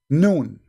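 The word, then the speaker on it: نون: Noon. Those are, noon, by the way, is not a word. You see, in Arabic, when we pronounce a letter by itself, we pronounce it as if it's a word, but it's not a word.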